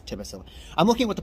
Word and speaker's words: Tbilisi: I don't know how to pronounce it. It's Tbilisi.